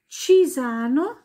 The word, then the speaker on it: Cisano: Und zwar ein C, das vor einem E oder einem I steht, wird als Tsch ausgesprochen. Also C vor E und I wie ein Tsch. Ein Beispiel ist das Städtchen Cisano. C und I, Cisano, ganz hart.